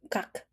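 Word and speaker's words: 각: First, the upper one is called what? Sounds ka, right? Ka. And then another g added. What happened? Kak, kak, kak.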